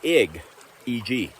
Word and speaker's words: eg: stevogno you would say you wouldn't say yay which is j-e-g which is how you say i you'd say egg e.g and we say our